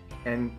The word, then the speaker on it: 안: The first block is made up of iung, a, and nyun, and so it is pronounced an. An is pretty similar to the English word on, except when I pronounce